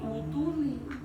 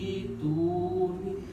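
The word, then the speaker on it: ائْتُونِي: hamzahnya diganti dengan iya, jadi dibacanya bukan utuni tapi ituni.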